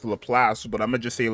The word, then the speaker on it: Laplace: a little place here her name is pronounced LaPlace but I'm gonna just